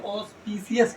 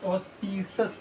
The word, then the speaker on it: auspicious: कुछ लोग इसको पढ़ते हैं ऑस्पीसियस टाइम। तो एक्चुअली क्या है कि जो इंडिया में प्रोनाउंसिएशंस लोग करते हैं वो डिफरेंट वे में करते हैं। यू कैन, इट is better कि आप इसको बोले ऑस्पीसस टाइम।